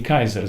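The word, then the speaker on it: Caesar: августа були названі кейсаріями згідно правил древньоримської фонетики Саме так вимовлялося ім'я тодішнього та майбутніх всіх правителів Римської імперії Кайзер звідти і відомий вислів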